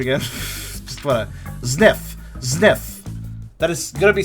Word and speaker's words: Zniw: What was the pronunciation again? Just wanna Zniw.